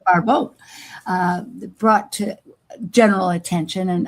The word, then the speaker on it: Barbault: entire astrological community, what Andre Barbault, a French Barbault. Yeah, thank you. Right pronunciation. Barbault brought to general attention, and I think various